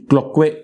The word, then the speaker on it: Cloquet: Now, the next structure that we see marked in this image is Cloquet canal. Okay, everybody? T is silent here, everybody. Cloquet canal.